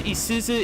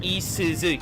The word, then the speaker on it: Isuzu: Rand says Isuza is pronounced Isuzu.